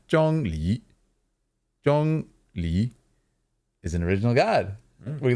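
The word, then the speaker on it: Zhongli: J let me say it right Jong Le Jong Le is an original God we learned right today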